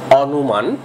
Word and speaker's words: অনুমান: যেমন আমরা লিখে থাকি অনুমান, কিন্তু উচ্চারণ করতে হবে অনুমান।